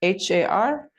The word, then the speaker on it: Har: And we'll be chanting the mantra Har with each kick, H-A-R. Try to bring the tongue tip to the roof of the mouth when you pronounce the R sound, the R sound.